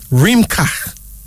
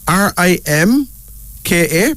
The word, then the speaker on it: Rimka: Here's another name, Rimka. Rimka. R-I-M-K-A, pronounced Rimka.